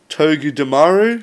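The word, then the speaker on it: Togedemaru: Togu Damaru, is that it?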